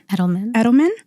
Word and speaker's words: Edelman: Michelle Obama, Marian Wright Edelman. Did I say it right? Edelman, and Oprah Winfrey.